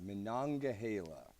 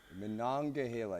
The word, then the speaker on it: Monongahela: It's Monongahela. Well, I should be able to say it right. It's just my hill country twang, I guess. I know. Monongahela. You got Monongahela. I know your twang wants to cut syllables.